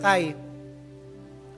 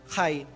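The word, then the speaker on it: חי: Sige kuya Chris pakita po natin kung ano yun which is pronounced differently. Ito yung tinatawag na ah ang banggit po sa kanya sa Hebreo ay kai. Para pong siyang kai.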